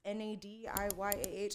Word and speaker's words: Nadiyah: For people who don't know, it's phonetically spelled. It's Nadiyah. I don't know why people don't. It sounds like my sister's name is Naya and Nada. So when you told me Nadiyah, I'm like, I can remember that.